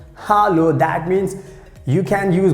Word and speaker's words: hallo: useful you know that h a double l o that means in german language we pronounce hallo hallo that means you can